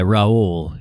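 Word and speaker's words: Raúl: Yeah, Raul. Yeah, is how you pronounce it.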